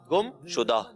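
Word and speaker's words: گمشدہ: गुमशुदा, शुदा के शदा नहीं, शुदा। गुमशुदा दुरुस्त।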